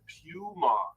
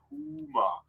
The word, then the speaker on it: Puma: It's not a puma, it's a puma, right? Easy to pronounce for English speakers. Let me spell it out for this P-O-O-M-O-M-A, sorry, P-O-O-M-A, puma, right? Easy to say. That's how the cat is being called in German, obviously.